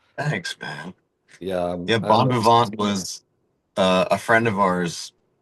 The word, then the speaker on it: Bon Vivant: So what's the how do you pronounce the album that you have? It's Bon Vivant.